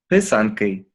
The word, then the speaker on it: pysanky: Pysanky. Okay. Yeah. So it's actually spelled like this. Oh, it's beautiful. It's spelled like this. Pisanki.